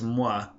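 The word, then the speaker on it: mwen: about myself of course that's mua and that's kind of spelled mwe en is how you'll see it spelled most of the time on in Haitian Creole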